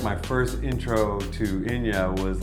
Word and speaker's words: Inja: time calling her and her name is spelled I nja a so I was like hi is inja there and she's like it's Ina get it like oh